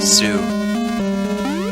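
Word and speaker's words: Suu: They're called Sue. That's right, Sue. It rhymes with Majin Buu.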